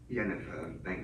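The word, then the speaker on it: Yennefer: To say as Yennifer, That's how you pronounce it.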